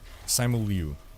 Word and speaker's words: Simu Liu: I don't know how to pronounce his name. Simu Lee? Simu Liu? Simu Liu.